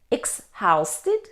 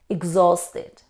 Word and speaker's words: exhausted: within the hour and how do you pronounce this word exhausted no age isn't pronounced in this word we say exhausted exhausted means very tired